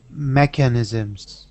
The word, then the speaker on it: mechanisms: only word here um be careful on the stress of this word mechanisms mechanisms perfect so that stress is on the first a mechanisms okay thank you